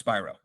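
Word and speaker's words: Spiro: you can't tell me okay my name's Alex Spyro just so you have it if you need it how to pronounce the last name byro your son who's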